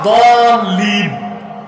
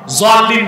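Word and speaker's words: الضالين: তো আসলে উচ্চারণটা দলিন, জলিন না। জলিন পড়লে বরং নামাজি হবে না।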